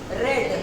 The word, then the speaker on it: read: The book is to long to बी रेड, READ, same spelling है, pronunciation अलग है।